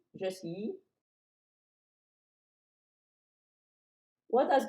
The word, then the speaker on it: y: It is pronounced like the English letter E. Just E.